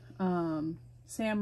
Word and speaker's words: Sam: And then I was watching a TikToker called Sam Rhymes with Ham, and she's a librarian, an elementary school librarian.